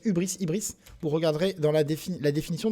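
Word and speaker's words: hubris: Alors, Ibris, ça s'écrit aussi H-U-B-R-I-S, Ibris.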